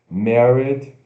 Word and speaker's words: married: Aqui no vocabulário, primeiro temos married, M-A-R-R-I-D, como se fosse married, né? Mas se pronuncia assim, apóstrofe de pronúncia batônica, M-A-E-R, M-A-R, mar, e longo D, id, married, married, Married.